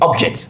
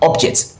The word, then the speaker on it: object: It stresses the first syllable, which is the ob.